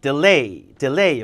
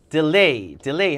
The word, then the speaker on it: delay: 이 delay G의 강세가 되게 중요해요. delay. 여기도 delay 한 몇 번 써야 되는데 delay 이러면 안 되고 delay 해서 뒤에 강세 잘 주세요.